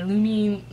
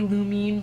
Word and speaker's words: Lumine: to put my my Lumine. I keep wanting to say Lumine, but I've been told it's pronounced Lumine.